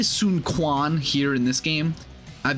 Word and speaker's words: Sun Quan: me just do this too so they say sun Kuan here in this game I've been saying Sunan because that's how they pronounce it in like Dynasty Warriors 8 but it's actually sunun sunun which is uh a little strange after